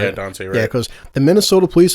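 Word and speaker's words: Daunte Wright: Yeah, Dante Wright.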